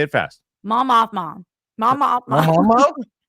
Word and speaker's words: Mothma: her, "Wait, what's the I every time I pronounce this wrong and nobody corrects me. Marmoth Marmothma Man O man monothman Mothma Mothma.